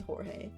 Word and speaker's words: Jorge: Jorge were back in did I call him George is this pronounced George I need to look this up now I'm pretty sure this is Jorge I'm pretty sure I'm